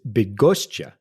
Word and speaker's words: Bydgoszcz: The Latin name for the city is Bydgoszcz.